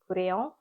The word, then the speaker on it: Kureyon: Kureyon. I think it's is the Japanese pronunciation of crayon, and this is just a nice autumnal color.